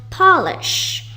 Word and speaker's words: polish: For the first one, you pronounce it as polish, as in he polished my shoes.